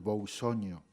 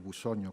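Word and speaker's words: Bousoño: Incluso hay un poeta que yo creo que todos ustedes conocen, Carlos Boussoño, o Carlos Bussoño, como queramos pronunciarlo.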